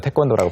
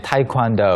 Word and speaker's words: 태권도: 태권도라고 발음을 한 거고.